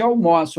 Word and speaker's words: almoço: outra pronúncia fechada tá pronúncia fechada sempre para o substantivo pronúncia aberta para o verbo então aquele é o restaurante onde almoço aqui também é presente